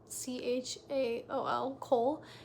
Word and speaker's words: Chaol: I think that's how you say his name, Chaol, Cole.